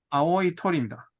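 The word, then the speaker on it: 青い鳥: 톨이라고 읽어요? 아오이 토리입니다.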